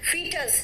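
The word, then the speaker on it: foetus: इसका प्रोनाउंसिएशन है फीटस।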